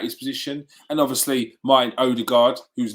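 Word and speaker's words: Ødegaard: runnerson uh most martin odergaard udegard as it is pronounced i'm told um he's unavailable for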